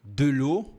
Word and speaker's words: de l'eau: Tem que ter atenção aqui no final, porque você vai fazer o biquinho e depois vai falar o O normal.